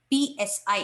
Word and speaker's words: psi: describes a function called psi it is pronounced as psi electron wave function it